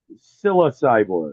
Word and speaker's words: Psilocyborg: was it, how do you pronounce it? Psilocyborg. Like Psilocyborg. psilocybin.